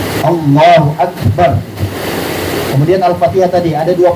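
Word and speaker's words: الله أكبر: itu dilatih ya Terus Yang benar gimana Takbiratul Ihram Allahu akbar nah gitu ya Allahu akbar bnya enggak dipanjangin alifnya enggak dipanjangin ya Nah kemudian kafnya sempurna diucapkan dengan huruf Kaf Allahu akbar kemudian Alfatihah tadi ada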